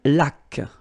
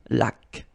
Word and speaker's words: laque: Une laque. Remember the rule. When you get this Q-U, well, U is not pronounced. So you get K, like that. Une laque.